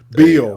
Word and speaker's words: Bele: Beale.